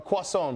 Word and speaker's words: croissant: a croissant, by the way, is how you pronounce it.